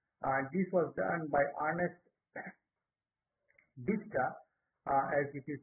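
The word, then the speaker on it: Ernest Dichter: focus group interview and this was done by ernest diska as it is pronounced and uh in the year 1914 and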